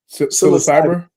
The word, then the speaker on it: Psilocybin: Psilocybin. Psilocybin.